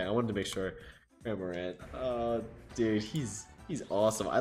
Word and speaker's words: Cramorant: Cramorant, is that how? Yeah, that is how you say it. Okay, I wanted to make sure. Cramorant.